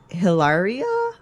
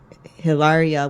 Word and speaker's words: Hilaria: so her name I think is Boy, Hilaria Baldwin.